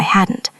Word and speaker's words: hadn't: Listen to the T sound at the end. If I hadn't.